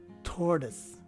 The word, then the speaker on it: tortoise: as in delta and the o and i letters take a swa sounding letter e and finally the letter e at the end is dropped so this word is pronounced as tortoise again tortoise this is